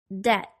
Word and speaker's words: debt: sounds listen and repeat the silent be doubt debt the silent c muscle